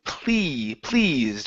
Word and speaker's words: pleased: Now that last word is pleased, with a long e sound instead of pleased.